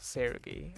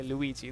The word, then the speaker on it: Seulgi: I could not say the name Seulgi for the life of me for like a month before like she gave me a video of how to pronounce Seulgi. I genuinely could not say her name. I used to say Luigi. That's not a joke. That's actually something I would say. Girls, to be honest, I have a problem.